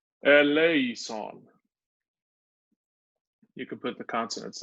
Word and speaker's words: eleison: But we pronounce it very, very Latinate. We don't pronounce it like Greek because it's sung in the High Latin Mass.